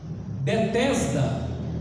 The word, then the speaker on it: Betesda: Bet significa casa, Tesda significa amor, compaixão, mas só que em hebraico não se lê Tesda, se lê Hasda, que significa misericórdia.